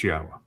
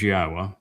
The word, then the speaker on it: Yahweh: It's Yahwa. And I don't give a crap what you want to believe that something else or that there's a different way to pronounce it. No, it is Yahwa.